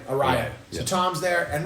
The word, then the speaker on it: Araya: How do you pronounce his last name? Araya. Araya.